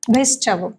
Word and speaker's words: vegetable: Vegetable. ভেজিটেবল। তো এটার pronunciation হবে ভেজিটেবল।